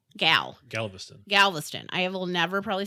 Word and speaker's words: Galveston: We've cruised out of Miami, Galveston, which I never pronounced right in our 8 years together. Is it Galveston? No, Galveston.